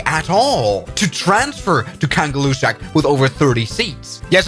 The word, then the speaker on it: Kangerlussuaq: In Greenlandic, it's pronounced Kangerlussuaq. Kangerlussuaq.